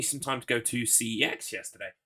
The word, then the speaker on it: CEX: Um, but that did give me some time to go to CEX yesterday. I refuse to call it sex, no matter how many times they pronounce it like that on the adverts.